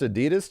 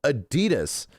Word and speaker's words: Adidas: another place recently and you know what they called Adidas? You know how they pronounced Adidas chat? added. I was like, "The What the is an added?"